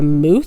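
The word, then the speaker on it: muth: Now, I've since learned that these type of honey jars are called, and I'm probably going to butcher how you say this, but a moose jar. It's spelled mu t h.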